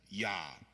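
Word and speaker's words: יה: we do nicknames amen if it's contracted with just the two letters YH or yod he in Hebrew then it would be pronounced yah amen if it's at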